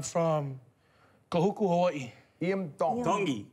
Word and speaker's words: Tongi: Tongi. Tongi. You pronounce the T's like a D in the Tongan culture.